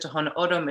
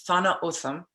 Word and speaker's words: Tohono O'odham: I'm saying it right, because I've always said Tohono O'odham, it's Thana Otham.